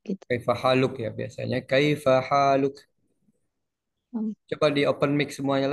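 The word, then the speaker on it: كيف حالك: Kaifa haluk. Coba di open mic semuanya lah. Di open mic aja nggak apa-apa. Tetapi orang Arab Mesir itu mereka bukan kayak Haluk ya.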